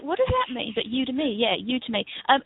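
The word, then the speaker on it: Udemy: um oh UD to me yeah it is pronounced UD to me yeah I thought it was UD Demi but it I was like what does that mean but UD to me yeah you to me um yeah it's a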